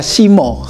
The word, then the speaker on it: Sima: của nữ hoàng này được viết là "Sima" nhưng được đọc là "Simo" , điển hình trong cách phát âm tiếng Java mới.